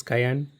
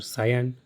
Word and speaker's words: Cayenne: I hope it is Cayenne or Cyan. So I'm going to pronounce as Cayenne for now.